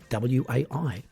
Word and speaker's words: WAI: the wonderland annoyance initiative also known as wai pronounced like the word way even as i speak